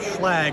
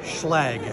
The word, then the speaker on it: Schlage: So the founder of Schlage was Walter Schlage, not Schlage or Schlage or however you say it. Okay, how do you say it? Schlage.